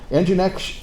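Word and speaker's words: nginx: genetics is the green one they're coming up engine X is a stripped-down version of apache it's spelled strangely um well I'm told all I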